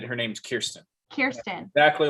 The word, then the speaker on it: Kirsten: So it is pronounced Kiersten because my wife Kiersten sent me a American Girl doll video, and they I said did?